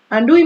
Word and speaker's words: Louis: লুই ম্যাকনিসের যে স্পেলিংটা সেটা একটু মনে রাখবি। লুই, এখানে এসটা সাইলেন্ট, ওকে? লুই ম্যাকনিস, sorry, Louis Macnish.